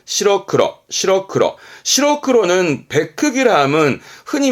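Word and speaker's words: 白黒: 발음은 시러크러, 시러크러.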